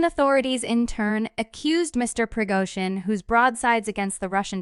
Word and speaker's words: Prigozhin: The evil borne by the country's military leadership must be stopped, Mr. Prigozhin, pronounced Prigozhin said in one of a series of voice recordings posted to the Telegram social network after 9 p.m.